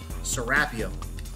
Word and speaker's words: Serapeum: the serapium and yes I will continue to say it as it is pronounced here in Egypt serapium if this is the